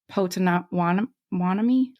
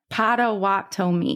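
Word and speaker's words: Potawatomi: Chipoa, the Ottawa, and then the Potan Wanomi. Uh, say it for me. Padawani. Pawani. Pawatomi. Yes. Thank you.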